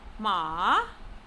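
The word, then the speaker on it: 马: Ma, horse. It is pronounced using falling rising tone.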